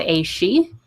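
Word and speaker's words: Aos Sí: it got combined with people called the Aoshi. It's spelled Aossi.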